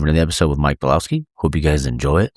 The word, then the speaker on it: Bielawski: special guest on the show today of Mike Bielawski.